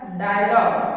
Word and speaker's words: dialogue: जैसे एग्जांपल है डायलॉग, DIALOGUE, यहाँ जी के बाद यू है इसलिए यहाँ यू साइलेंट है।